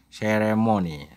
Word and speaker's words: ceremony: cccccc Rere Momo Neni ceremony jadi bunyi seh bunyi the ceremony the ceremony ceremony ceremony ceremony berikutnya